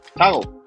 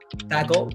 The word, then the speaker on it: toggle: Toggle. Toggle o toggle. Toggle. En inglés hay 3 tipos de pronunciación de la O, right?